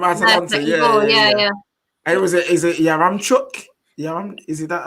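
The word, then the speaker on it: Yaremchuk: And is it Yaramchuk?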